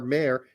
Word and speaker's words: Meyer: uh by the way the guy that said that Meyer is pronounced m-e-y-e-r mayor is correct I want to acknowledge